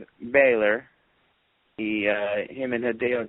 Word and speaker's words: Balor: it I'm so confused is it Baylor or Balor I don't know which it is because think it's Bor some people say Balor I've heard balour I've heard like three different pronunciations of the guy's name I think it's Balor I he even mentioned his name is Balor so I think that's that's how it is it's Finn Balor yeah